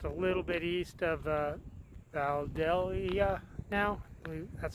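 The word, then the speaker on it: Vandalia: We're just a little bit east of Valdelia now. That's how you pronounce it.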